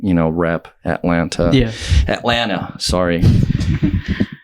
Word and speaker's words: Atlanta: going to not, rep Atlanta. Yeah. Atlanta, sorry. Can't pronounce the second T. So, second T isn't real.